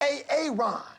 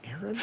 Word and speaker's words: Aaron: A Aon. Aaron. Why didn't you say it the first time I said a Aon? Because it's pronounced Aaron.